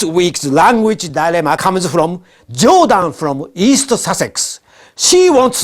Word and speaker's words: 冗談: 私の自叙伝は飛び出す絵本です。By the way, Judon't in Japanese is pronounced Judon't, which means joke.